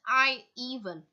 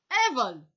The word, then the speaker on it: Ivan: Okay, so apparently his name is pronounced Evan.